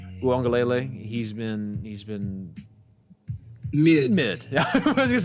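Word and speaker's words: Uiagalelei: You know, as we know, DJ Ugaleleo, I forgot how do you say his name? Uangalele.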